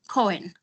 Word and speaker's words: Coen: Am I pronouncing your name Coen?